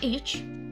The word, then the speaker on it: each: Each is an fricative sound. The symbol is T and like F, but there is no line in the middle of the F. So we pronounce ch, each. Ch, each. Like that.